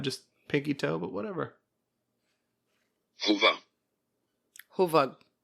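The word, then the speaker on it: Hövåg: Huvug. That's how the mattress is pronounced.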